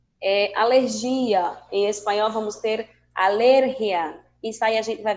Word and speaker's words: alergia: Em espanhol vamos ter alergia.